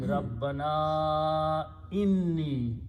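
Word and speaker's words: رَبَّنَا إِنِّي: If there is an alif, it puts a long mud on the alif. This Hamza does that. So you have to pronounce it correctly by saying Rabbana inni, O our Lord, definitely I or me.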